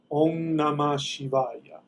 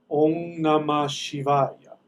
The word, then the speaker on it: Om Namah Shivaya: spell it for you that M is actually an NG sound all namah shivay um nama Shivaya om namah shivaya om namashivaya Ringo Cosmo joke question